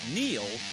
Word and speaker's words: Neil: It's no coincidence that Neil rhymes with deal, because that's something you